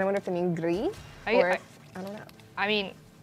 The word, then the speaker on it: Gris: Okay, it pronounced Greece, and yes, French and Spanish, so Gris. Gris. It's like, picture it G-R-E-E.